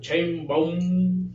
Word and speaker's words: Sheinbaum: del gobernador de Tamaulipas apoyando Pues a Claudia sheinbaum así se pronuncia y bueno queremos preguntarle te vamos a